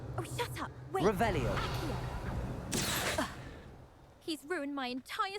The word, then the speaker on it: Revelio: You're Rebellious. saying it wrong. Ugh, Revelia. Much better. Oh, shut up. Wait. Revelio.